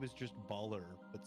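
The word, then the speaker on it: Ballyrr: this name is just baller but spelled for drow b-a-l-l-y-r-r sounds about right sounds like a winner ah just baller i am of the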